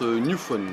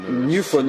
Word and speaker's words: Njufom: Que l'on prononce Newphone. Newphone, autant pour moi.